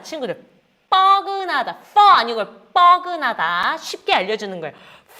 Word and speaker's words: 뻐근하다: 뻐근하다. 자, 친구들 따라해야 돼요. fuck you 할 때 뻐근하다. 자, 친구들 뻐근하다. 아니고 뻐근하다. 쉽게 알려주는 거예요. fucking 할 때 라고 발음하면 돼요.